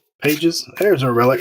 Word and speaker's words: Pages: I always pronounce it wrong. Pages.